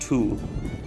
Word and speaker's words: Tulle: go over a very brief history of the tool yuzidishas that's right it's pronounced two i know that that looks like a v